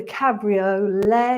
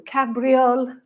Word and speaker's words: cabriole: Okay, so we're going to try this little thing called a cabriole or cabriole, depending on your pronunciation.